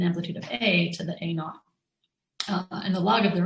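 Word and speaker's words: a₀: with a subscript zero we read it as a naught we pronounce this we could call it a naught and not for zero so it's an a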